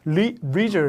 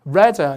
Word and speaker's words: leisure: 우리말로 하면 레저인데 실제로 우리나라식 외래어는 영국식하고 좀 닮아 있다라고 생각이 드는 게 이게 미국 가면 레저가 아니거든요. 이게 실제 발음이 leisure 이렇게 되는 거고요. 이거는 leisure 이렇게 되니까 약간 우리식하고 비슷한 건 역시 영국식이 우리식하고 좀 비슷하다 이렇게 볼 수 있는데 한번 들어볼까요?